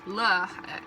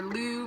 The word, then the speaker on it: Lugh: calendar is about honoring Lugh i'm probably saying it wrong but it's like l-u-g-h or like lugh or lou one of those who is the sun